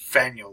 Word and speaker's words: Fanuilh: But then I actually tracked down the website of the author, and he said it was supposed to be pronounced Fanuilh, like Daniel.